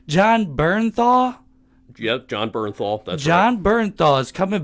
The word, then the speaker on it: Bernthal: Yep, John Bernthal.